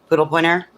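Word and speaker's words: Pudelpointer: P U D E L. Pointer. I think it's pronounced pudell.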